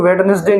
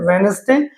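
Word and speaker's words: Wednesday: वैसे ही हम बचपन से डेज ऑफ वीक लर्न करते हैं तो वेडनेसडे नहीं होता, ये क्या होता है, वेडनेसडे, वेंसडे, ये इसको वेंसडे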